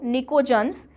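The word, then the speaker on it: pnictogens: निकोजन्स में बेटा P silent है, ठीक है, इट is written as PNICO, निकोजन्स।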